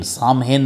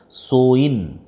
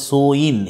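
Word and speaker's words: Samhain: এস এ এম এইচ এ আই এন সোয়েন উচ্চারণটা প্রনাউন্সিয়েশনটা হবে সোয়েন সামহেন নয়ুডবি প্রনান্সিয়েটেড এজ সোইন এই যে সোইন উচ্চারণটা হবে এইযে এস এম এইচ এ আই এন এর উচ্চারণটা হবে সোইন এটার বিষয়ে তোমাদের টেক্সট বইতে যেটা বলা হচ্ছে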